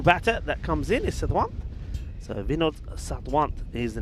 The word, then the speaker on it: Sawant: Where's the where's the Sat and the Dwant? Sawant. That's how you say it. Trust me, Vinod Sawant. Yeah, but that's not what you said. Sawant. You said Sadwant. Satwant is another way of saying it.